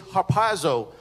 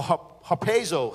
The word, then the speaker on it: harpazo: Now, the word caught up, the Greek word is harpazo, or harpazo, however you want to pronounce it.